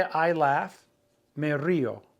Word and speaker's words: río: If you want to say I laugh, me río. There's an accent on that I, just like the word river, to break up the diphthong. So we have two sounds.